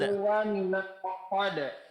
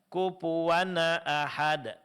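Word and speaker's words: كُفُوًا أَحَد: Bunyi nun sukun pada tanwin di sini dijelaskan karena hukumnya izhar. Jadi kufuwan ahad jangan kufuwana ahad. Beda antara wan ahad dengan wana ahad.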